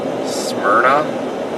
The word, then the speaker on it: Smyrna: Smyrna, that's how you say it.